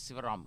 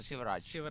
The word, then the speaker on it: Shivraj: I was always calling himself as Sivaram. He's a Shivraj.